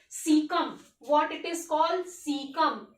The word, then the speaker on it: caecum: पहला पार्ट है सीकम। What it is called सीकम। क्या बोल दिया? लिख लो।